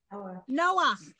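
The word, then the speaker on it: נח: So you pronounce the vowel and then the letter. Ah. Right. That's the guy who built the ark. Noah. Okay. So this is the only exception to pronouncing the letter and the vowel, the letter first, then the vowel. This is the only exception, and it's only at the end of a word.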